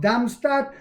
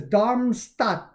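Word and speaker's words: Darmstadt: DB said the service will expand to part of Damstat later this year. I know I pronounced that improperly too. I'm killing that. I believe it's Dharmstat.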